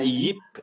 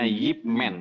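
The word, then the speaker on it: Ip Man: oh nah Yip ya karena dalam bahasa Mandarin IP itu dibacanya Yip jadi itu nama orang bacanya yipman begitu eh itu bukan tentang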